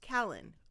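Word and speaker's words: Cailean: And it's pronounced kalen. I looked it up with you guys. Do you remember kalen?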